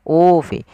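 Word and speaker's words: أُوفُوا: biahdi ufi biahdikum kemudian pada lafal ufi di sini ada bacaan mad badal yang di mana mad badal terjadi apabila ada huruf hamzah bertemu dengan huruf mad. Di sini ada hamzah berharakat dommah bertemu dengan huruf mad yaitu ufi. Ufi panjangnya adalah dua harakat.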